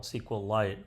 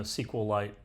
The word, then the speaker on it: SQLite: That's pronounced in several different ways. I I usually call it SQLite or SQLite 3.